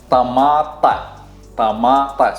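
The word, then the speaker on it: طماطة: So tomato in Arabic, it's the same. It's just different letters. Tamata, tamata.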